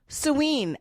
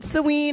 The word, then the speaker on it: Samhain: Drop suen. S O W N or S A. Actually, that's not how you spell it. It's I was spelling it the phonetic way.